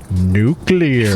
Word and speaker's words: nuclear: meaning to nuclear family nuclear it's pronounced nuclear Lucas has it out